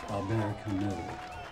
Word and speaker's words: Albert Camus: That's pronounced Albert Camus.